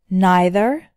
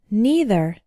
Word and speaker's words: neither: net both these words have two possible pronunciations either and either neither and neither both are correct first let's learn how